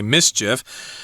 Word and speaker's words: MSCHF: and it's funny that their name um sounds the same as the word that means to make trouble or to cause trouble exactly and we will continue